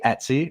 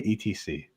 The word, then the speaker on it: Etsy: What do you say? I say Etsy. Me What do you too. say? Okay, so you say it the correct way. The ETC people are insane.